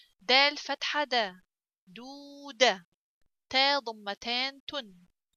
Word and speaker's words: دودة: Okay, so waw comes after del, which has ضمة, so I have to pronounce this del longer. دال فتحة دا. دودة. تا ضمتان تن. دودة.